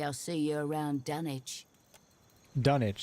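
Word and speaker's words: Dunnage: Dunwich, that's the correct pronunciation.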